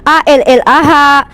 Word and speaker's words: Allah: Anda melatinkan tulisan Alif Lam Lam Ha menjadi kata a-l-a-h "alah". Anda tidak dapat membacanya sesuai dengan aturan linguistik. Bagaimana Anda bisa membaca huruf L ganda sebagai " Allah"? Huruf L seharusnya hanya satu .